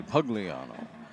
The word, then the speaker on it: Pugliano: getting there is AJ pugliano ugliano they told me it's actually pugliano drops him for a